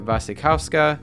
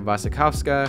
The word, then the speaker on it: Wasikowska: Bergman Island stars Vicky Creeps, Tim Roth, Mia Wasikowska, I think that's how you say it, I know the W's or V's, crucify me in the comments please, and Anders Danielsson-Lee.